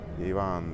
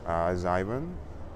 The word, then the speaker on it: Ivan: Ivan that's my name. Sometimes someone can pronounce it like a zon. I I'm okay with that. I really like this way of pronunciation like more American way and um I'm just